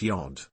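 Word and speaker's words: Gud: Reporter, it's pronounced Yod.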